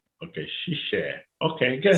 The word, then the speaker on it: 谢谢: 谢谢. Okay. Shishe.